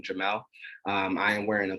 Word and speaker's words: Jamel: uh so yeah as mentioned my name is Jamal pronounce him his and my name Jamal um I am wearing a button-down shirt with